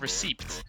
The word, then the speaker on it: receipt: okay can I ask whoever created the spelling on the word receipt and decided to add a p there and not even remotely pronounce it I just receipt Kaki streams then uh